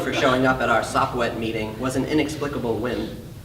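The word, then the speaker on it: Sopwett: And when I say Sopwet, it's spelled S-O-P-W-E-T-T, and it's an acronym that you'll hear what it means at some point in the story.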